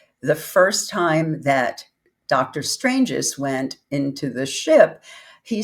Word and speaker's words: Stranges: It's actually an Stranges. Italian, you would never know, but it's an Mhm. Italian last name. His parents were from Italy.